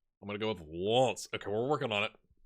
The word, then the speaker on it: Lens: So it's Lens, or something like that. It's like you say the S, but not so much the N.